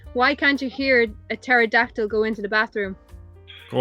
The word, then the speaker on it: pterodactyl: Why can't you hear a pterodactyl go into the bathroom? Go on. The P is silent.